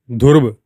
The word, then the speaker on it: ध्रुव: मेरे ख्याल से मैंने प्रोनाउंसिएशन शायद गलत किया है। उसका नाम ध्रुव है। ध्रुव इंग्लिश में लिख रहे हैं डी एच यू आर बी ई। लेकिन नेपाली लैंग्वेज में है ना ध्रुव।